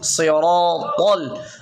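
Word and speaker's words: الصراط: অনেকেই সই মানে সদ মোটা করতে মানে অনেকেই মানে এই সিনের উচ্চারণ কি করে, অনেকেই মানে সিনের মতো উচ্চারণ ইহদিনাস সি এইভাবে উচ্চারণ করে, এটা মূলত এরকম না। ইহদিনাস সিরাতাল।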